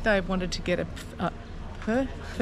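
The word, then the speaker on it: phở: So I'm really, really looking forward to a Bahn Mi, and I think Dave wanted to get a fur. It's not a po, it's a fur.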